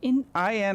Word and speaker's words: Inigo: It makes sense because he's probably from a place where I is pronounced E.